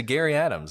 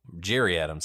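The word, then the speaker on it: Gerry Adams: if you listen to Gary Adams I mean he's telling you Jerry Adams something actually pronounced his name he's telling you look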